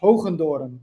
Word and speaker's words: Hoogendoorn: pronounce it differently uh in Dutch where I'm from it's it's pronounced hundor but nobody can do